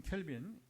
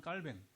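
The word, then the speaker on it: Calvin: 원래 여러분 이제 존 켈빈, 요한 깔뱅, 이 프랑스 옛날에 불어 지역이란 말, 불어 지역 칼빈이 그러니까 영어식을 발음하다 보니까 뭐 켈빈 칼빈 하는 것이고 원래는 이제 깔뱅인데 깔뱅도 보면 여러분 이제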